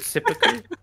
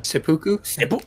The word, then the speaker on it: Seppuku: Was it, is it Sippuku? It's endlessly funny. Yeah, how do you pronounce that? Is it Sippuku? Is it Sippuku? Sippuku, yeah. Yeah. Seppuku?